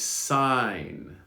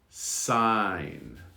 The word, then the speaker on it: sign: are called foreigners not strangers foreigners foreigners next sign sign now we have the target sound in the